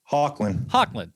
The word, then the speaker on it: Hoechlin: But Tyler is Hoechlin, how do we pronounce his last name? Hoechlin.